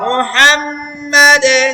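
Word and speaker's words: محمد: আলা সাল্লি আলা মুহাম্মাদ। ওয়াকফ করার কারণে শেষ হরফে কলকলা হবে। মুহাম্মদ করছি আমরা, মুহাম্মদ। মুহাম্মদ না মুহাম্মা? মাদে, হ্যাঁ, মা, মিম জবর মা।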